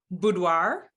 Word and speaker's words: boudoir: i hadn't heard before you called it something boudoir yeah what does it mean and how do you pronounce it and how do you spell it